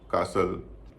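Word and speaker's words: castle: ब्रिसल कासल चेसनट मॉगेेज अब हम जानेंगे कि इन शब्दों में टी साइलेंट क्यों होता है। अगर आप इन शब्दों पर गौर करेंगे तो आप देख पाएंगे इन सब में या अधिकतर शब्दों में टी से पहले एस है और एस के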